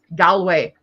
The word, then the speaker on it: Galway: That's how you say it, Galway, not Galway or anything. People say Galway. No, it's Galway. You say it's Galway.